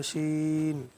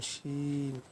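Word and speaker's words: شين: তারপর আপনার আছে জিহ্বা শিন। জিহ্বার মধ্যখান তার বরাবর উপরের তালুর সঙ্গে লাগাইয়া একটি হরফ উচ্চারিত হয়, যেমন শিন, শিন, এরকম একটি শাসা শব্দ হবে।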